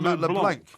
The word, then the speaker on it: Matt LeBlanc: He says, Porky, Matt LeBlanc's surname is pronounced to rhyme with Blanc, not with plank. You plank. Yeah, I said that. You said Matt LeBlanc.